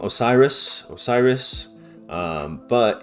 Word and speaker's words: Osiris: Um, but it could have been uh a different name like user or Wier rather than like the longer name that we use. Uh, once again, it's kind of difficult because a lot of his name is made up of vowels plus the suffix is or us that the Greeks like to add. And uh the vowels are basically just a best guess game because they they never wrote down their their vows.